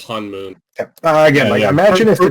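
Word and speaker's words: Honmoon: It's not Hone. It's Hanmoon. Han. It's Hanmoon. Yeah. Just imagine. I genuinely thought it was Hone first and I watched it with subtitles and I was like, "Oh, it's Hanmoon."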